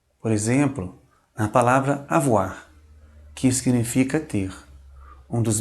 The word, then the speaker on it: avoir: O nosso terceiro grupo de vogais compostas, OI, tem som de UA. Por exemplo, na palavra avoir, que significa ter, um dos verbos mais importantes da língua francesa.